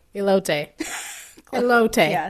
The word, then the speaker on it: elote: Elote. Elote. Close. Elote. Yeah, sound just like Elote. Elote. You Elote. sound like you're saying, hello, Tay. Elote. Hello, Tay. Nice to meet you. Elote.